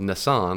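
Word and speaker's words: Nisan: And their month called Nissan, like Nissan the car, but it's spelled it's N I S. There's only one S.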